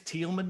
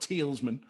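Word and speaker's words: Tielemans: to pronounce his name his name's tealman not tealsman well do you get them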